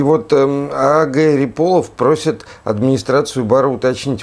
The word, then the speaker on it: Ряполов: Вот Риполов, мне кажется, на второй слог. А.Г. Риполов, да, вот так и буду говорить. Вот. И вот А.Г. Риполов просит администрацию бара уточнить,